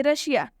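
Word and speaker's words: Russia: है ठीक है ये देखिए रशिया रशिया में भी ये जो एस है एस के बाद से आई और ए आया हुआ है और जब भी इस के बाद आई ए आए तो इसका उच्चारण तलाब श से हो जाएगा रशिया का मतलब भी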